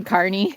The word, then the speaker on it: Kearney: What is it really? Kearney is how you say it, and they say, yep.